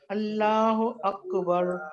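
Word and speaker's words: الله أكبر: اللہ اکبر, اللہ کو الف کو موٹا نہیں کرنا, لام کو موٹا کرنا ہے. ہاں جی, اور اس کے اسپیلنگ ایسے ہو جائیں گے, لا, اللہ, اللہ اکبر.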